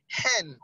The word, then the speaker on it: hen: Others, actually the H is silent in each of the options that you have, options A to C. In each of them you have the H, silent. And for the word that we have is house. So you pronounce the he sound there.